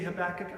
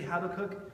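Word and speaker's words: Habakkuk: right through those names you say habach I say habakuk but let's not call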